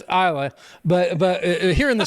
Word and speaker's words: Islay: here in the South it's islay is l y is he laying down yes he he is laying down so IA but I'm messing with you Isa is the critic pronunciation but uh but you know a good Southern boy would call it islay so um space side